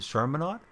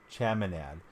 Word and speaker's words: Chaminade: Is it Charminade today? I don't think I'm pronouncing that right. No R. Chaminade.